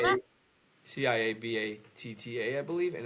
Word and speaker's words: ciabatta: Could you spell that? Ciabatta, I believe, and it's pronounced ciabatta.